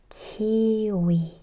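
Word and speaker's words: 키위: Kiwi is the same but see here when I have u and e it makes we sound. So kiwi kiwi again u n is a double vowel.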